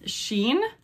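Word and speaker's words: SHEIN: Sheen.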